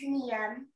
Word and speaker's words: Niam: Now, Niam, have I pronounced it correctly? It's Niam.